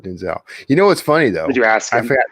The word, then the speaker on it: Denzel: pronounce it welcome Sarah how does he pronounce it he pronounced it Denzel he pronounces it Denzel you know what's funny